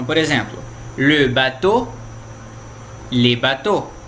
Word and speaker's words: bateaux: Então, por exemplo, le bateau, les bateaux. Então a pronúncia é idêntica, ó. Bateau, bateau. Com X e sem X é o mesmo, bateau.